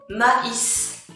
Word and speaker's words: maïs: Another word, the same, maïs, maïs.